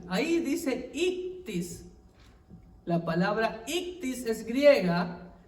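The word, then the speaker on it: ἰχθύς: Eso no es ixoye como algunos dicen que se pronuncia. Ahí dice ictis.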